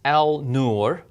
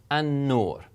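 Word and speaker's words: النور: It's just understood when you see this, you don't pronounce it as al-nur, but you would pronounce it as an-nur, an-nur.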